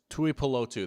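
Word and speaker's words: Tuipulotu: Tui Pelotu. There we go. I got his name right.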